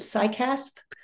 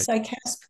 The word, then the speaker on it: CICASP: speaking to the this I think you pronounce it sasp right sasp group um and I